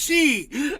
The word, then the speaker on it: Xi: Chinese president's name is she x i it's pronounced she oh I'm so funny you guys like my